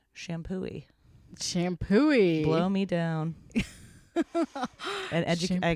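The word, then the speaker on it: Champoeg: assumed it was like shampoo egg but okay uh it's and that's like off the freeway a little bit but that's it's the exit for it my brother informed me that it's pronounced shampooy shampooy Blow Me Down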